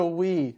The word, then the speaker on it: Wii: Wii, is that how you pronounce it? The Wii. Wii, Y-E, W-I-I. The W-I-I. That's right. Capital W, small I, Small I, right. small I. Wii.